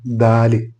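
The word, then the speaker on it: دال: മറ്റൊരു അക്ഷരമാണ് ദാല്. ഈ ദാല് ഉച്ചരിക്കാനുള്ള മാർഗം എന്ന് പറഞ്ഞാൽ നാവിൻ്റെ മുൻഭാഗം മുൻപല്ലുകളുടെ അടിയിൽ വെച്ചിട്ട് എടുക്കുമ്പോഴാണ് ദ ഉണ്ടാകുന്നത്. ദാല്.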